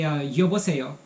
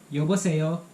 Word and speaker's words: 여보세요: And on the phone, you say 여보세요. So when you pick up the phone, you say 여보세요.